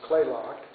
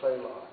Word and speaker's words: Kalaloch: It's actually spelled Kalaloch, K-A-L-A-C-O-H, but it's Clayoch. That's how you really pronounce it. And we'll be staying in Park Service facilities here at Clayoch.